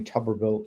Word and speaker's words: Tuberville: if you heard I think it was Tommy tuberville yesterday am I pronouncing that right yeah coach one of the